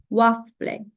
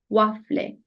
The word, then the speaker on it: waffle: ufi ufi Burada yine u a olmuş gibi hızlı bir şekilde u a wafle wafle İspanya'da gofre de diyebilirsiniz bunun